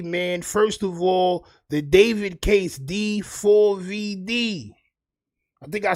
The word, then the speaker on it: D4VD: First of all, the David case D4VD. I think I spelled his name wrong in the damn title because it's so foolish, champ.